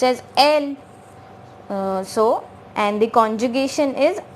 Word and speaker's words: elle: And it is pronounced as elle.